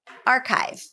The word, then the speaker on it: archive: vowel ah ah often archive archive so we elongate the first vowel and place primary stress on it like r archive explicit